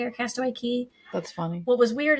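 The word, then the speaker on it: Castaway Cay: and it's also called castaway K or Castaway key that's funny what was weird is they're they're both spelled the same but one says Castaway K and the other one says it's Castaway Key how can we almost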